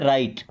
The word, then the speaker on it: write: WRITE, यहाँ पे W silent है, इसे भी पढ़ते हैं राइट।